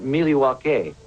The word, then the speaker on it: Milwaukee: indian name yes pete it is actually it's pronounced miliwake which is algonquin for the good land the